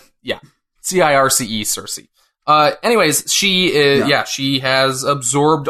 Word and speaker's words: Circe: Circe. Like Cersei Lannister. Yeah. Circe, Circe.